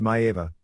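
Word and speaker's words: Maiava: Daddy Lipscomb, Sammartino Carpentier, Haystacks Calhoun Neff Maeva, pronounced Maeva, the first major Samoan star in U.S.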